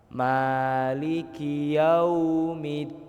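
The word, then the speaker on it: مالك يوم الدين: Jangan sampai kita keliru jadinya kayak O. Biasanya kan kita sering keliru kayak gitu, Pak. Bacanya jadi maligiau. Maligiau. Nah, seharusnya yang benar itu pakai U, Pak. Mulut kita itu dimonyongin sedikit ke depan.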